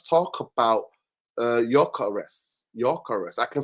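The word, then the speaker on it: Gyökeres: Why am I talking to the Swedish Nor is an O with with two dots over it. pronounced Yurus. Yurus Yurus, right?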